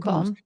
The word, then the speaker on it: Bombe: the bomb. Yeah, you're allowed to say that? BOMBE. Yeah, so it ends with an E, so that's why I didn't know if the E was silent.